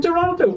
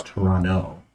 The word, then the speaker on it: Toronto: and dan now from toronto for popping in we appreciate all the extra inspirations uh daniel has informed me it's toronto not toronto yeah i'm not from